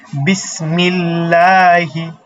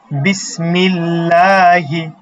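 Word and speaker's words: بِسْمِ ٱللَّهِ: বিসমিল্লাহি। বিসমিল্লাহি।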